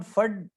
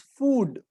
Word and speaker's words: food: So it is not fud, it is food. Mm, yes. Right, double O and A, there is a difference.